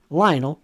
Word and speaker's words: Lionel: Lionel rhymes with vinyl.